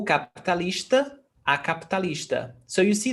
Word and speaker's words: capitalista: I noticed that you don't pronounce sometimes the I, like capitalista. You don't say capitalista. O capitalista. Actually, we do. It's very rare. Every syllable in Portuguese has a foundation on vowel sound.